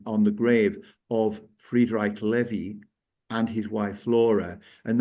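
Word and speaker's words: Lewy: is a levy body now Levy is the kind of correct pronunciation but the Americans converted it I think it must have been the Mickey Mouse effect with Huey dewy and Louie so they converted it to Louie body and in fact when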